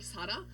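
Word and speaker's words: 사라: And also my name in Korean you say it like sada which can also mean to live.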